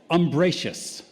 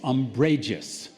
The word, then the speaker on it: umbrageous: The next word is umbracious. Shady, filled with shadows, also inclined to take offense easily. Actually, I mispronounced it. It's umbrageous.